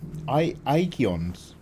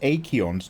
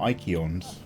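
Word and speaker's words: Eikons: paint every other FMV it's pronounced I igeons I said it the whole time yeah yeah we're playing the whole game you're calling them acheons not ikeons so it's a hard I okay you guys have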